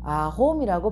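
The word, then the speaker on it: arôme: 자, 첫 번째 단어는 아로마트라고 하고 두 번째 단어는 아홈이라고 발음을 합니다.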